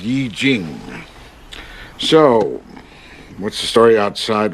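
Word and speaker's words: I Ching: out eastern wisdom the journey of self-discovery it's pronounced yi jing so what's the story outside with the poster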